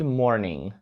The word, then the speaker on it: morning: morning morning означає ранок тут звернемо увагу на вимову слова morning в кінці там є літера G яка читається як г але вона майже не чутна послухайте morning morning Тобто вона дуже затихає у нас в горлі тому що вона наприкінці слова але носії почують якщо ви це не скажете тому пам'ятайте що